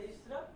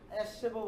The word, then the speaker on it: Ahrefs: এই স্ট্র্যাপ বলা হয়ে থাকে, এটা উচ্চারণ হবে এই স্ট্র্যাপ, এস স্ট্র্যাপও বলতে পারেন আপনারা, হ্যাঁ, AHREFS, এস স্ট্র্যাপ।